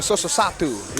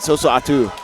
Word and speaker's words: Sosoatu: Oh, Sosoatu. Yeah. I butchered it multiple times in his last fight, so apologies for that. But tonight, Sosoatu.